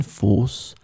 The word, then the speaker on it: fosse: So let's remember, fosse here, the adjective, the feminine form, it could be the singular or the plural, as we saw, it would be pronounced the same way, fosse.